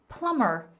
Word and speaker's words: plumber: Plumber. Plumber is a person who fixes um sinks, toilets, the water works in your house. And the pronunciation is plumber. The B is silent.